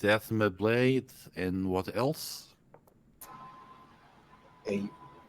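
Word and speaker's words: athame: or atha athma blades as far as I'm aware it's always been been pronounced ath asme okay so it's Asma blades and what else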